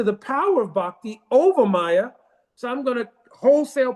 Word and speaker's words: Maya: In the word Maya, there's two syllables, Maya. So Ma means mother.